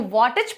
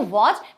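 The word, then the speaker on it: watch: वॉच, you know वॉच means घड़ी, तो इसको वॉटेज पढ़ा जाता अगर टी इसका साइलेंट नहीं होता। बट हम लोग क्या पढ़ते हैं इसको? वॉच, because T letter is silent.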